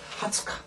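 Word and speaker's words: 二十日: 조심할게 뭐가 했냐면 20일입니다 20일은 20일은 이건 뭐라고 읽어야 되냐면가 이렇게가니다 하츠가 하츠가 이것은 지라고는 사람도 있지만 그렇게 일반적으로지 않습니다 그래서 하츠카 반드시 하츠카 은 하타치 그다음 카렌다에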